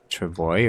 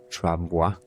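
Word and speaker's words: travois: Is it travoy or travo? Well, yeah, that's how it's written. But how do you say it? Travoa. Trava. Okay. So, it's like with the a at the end. Okay. Not the oi.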